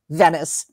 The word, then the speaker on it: Venice: is Father Dom and Vinice, who we learn, Mama doesn't like that name. She calls her Venice, because that's the way her name is spelled.